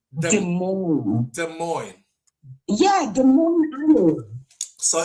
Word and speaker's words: Des Moines: That Des Moines. Des Des Moines. Yeah, Des Moines Iowa. So, if it's Des Moines, why did they not spell it d e m o i n?